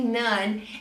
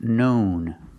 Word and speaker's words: known: NN and very commonly none as dillweed I cannot say it's commonly known as dillweed the word is pronounced known known use the long o like own grown blown and flown known it's more commonly